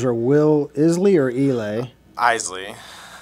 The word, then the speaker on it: Isley: Isley. Isley. So no silent letters there, Deej. It's I-S-L-E-Y. Like the Scottish whiskey, like the Isley, Isley Brothers.